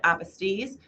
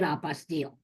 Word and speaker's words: apostille: apostille? Is it apostille? Apostille is apostille is the French word for certification or for certificate.